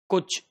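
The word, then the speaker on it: Kutch: यहाँ बता रहा है इट्स कुछ, या कुछ लोग इसको प्रोनाउंसिएशन में कच्छ भी बोलते हैं।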